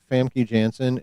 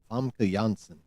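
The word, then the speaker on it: Famke Janssen: Her name, a lot of people say her name is Famy Jansen. It's actually Fam Jansen, in case you were wondering.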